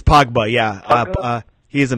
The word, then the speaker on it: Pogba: I mean, yeah, how do you pronounce it? Is it Pogba? It's Pogba, yeah.